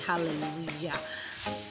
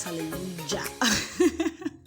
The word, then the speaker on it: hallelujah: You know that this is pronounced as Y and not J. Okay, so you want to say hallelujah and not hallelujah.